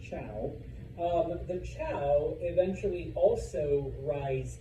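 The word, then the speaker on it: Zhou: the Chao, and yes, I know it's spelled with a Z and a U, but it's pronounced Chao.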